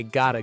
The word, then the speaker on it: gotta: We say, I gotta go. And notice the T in gotta sounds like a D. It's a flap T.